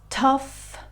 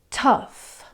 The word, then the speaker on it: tough: The last sound is an F sound in words like cough, tough. Let's try those again and repeat after me. Cough, tough. Okay, very well done.